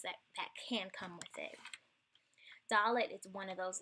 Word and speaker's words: Dalet: And it's pronounced like D, like dog.